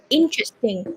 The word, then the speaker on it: interesting: Interesting. Stress on the first syllable. Interesting, Interesting. Ins- not interesting.